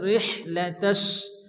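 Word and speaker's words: رحلة: বড় হাসি অনেকে আছে এখানে ছোট হা পড়ে রেহ লাতাশ পড়ে রেহ হবে না রিহ র হাজের রেহ মুখ দিয়ে বাতাস বার হবে রেহ লাতাশ এখানে সিনে কি আছে তাসজিদ এজন্য সিনিকে দুবার উচ্চারণ করতে হয় প্রথমত ডানদিকে সঙ্গে মিলিয়ে পড়তে হয় এরপরে শুধুমাত্র ওই অক্ষরটি উচ্চারণ হয় তাহলে কি হবে রিহলাতাস রিহলাতাস সিতা সিতা এখানে দেখেন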